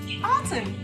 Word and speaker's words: autumn: Example is the word autumn. Letter N is silent.